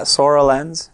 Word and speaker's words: Soralens: Yeah, Soralens.